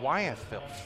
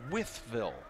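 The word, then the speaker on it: Wytheville: Withleville, not Wyethville. Fascinating. Wyethville? Pronounced like Whiffle, so Withville.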